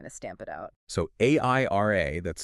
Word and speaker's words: Airia: So AIRA, that's spelled AIRIA, it gives you that unified security and, crucially, real-time cost control.